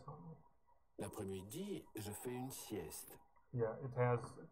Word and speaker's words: sieste: Oh, the T is still pronounced. It, you know, it's not a silent T. It's not a silent T. It's, yeah. Listen carefully. L'après-midi, je fais une sieste.